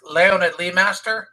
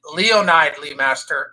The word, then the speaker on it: Leonid Leemaster: for my wife, and my wife's name is Leonid Leemaster, and people pronounce it Leonide Leemaster, and she hates that with a passion of 1,000 burning suns.